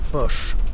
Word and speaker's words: Foch: Le nom de monsieur le maréchal, doit-on le prononcer Foch ou Foch? Foch.